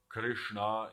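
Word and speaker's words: Kṛṣṇā: eav kalaratri and Dura Krishna here it means is a with a long a so not the masculine Krish this is the feminine these are your names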